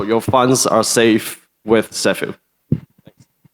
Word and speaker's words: Ceffu: The pronunciation is same as S Afu Sephu. So, your funds are safe with Sephu.